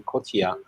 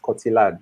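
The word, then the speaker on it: Cotillard: of her last name kotia was not what I had in mind when I first saw the name I I pronounced kotilad because I'm English and she's French and the pronunciation yeah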